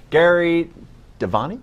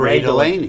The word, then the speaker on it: Gray Delaney: The whiz kids who bought down former House Majority Leader Eric Cantor, Gary Devaney, am I pronouncing that correctly? Gray Delaney. Gray Delaney. You were close.